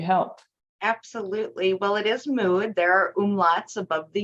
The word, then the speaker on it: Müd: well, we write Müd, M-U-D, modular, and it's pronounced Müd Modular. So I'm really curious about your business name. What do you do and who do you help? Absolutely. Well, it is Müd.